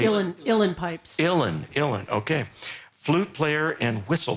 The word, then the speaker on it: Uilleann: Now, Willie Clancy, or Wiley Clancy himself, was an Irish Elon player. Is that right? Is that how you He say was a it? piper. How do you say Uilleann pipes. Uilleann, okay.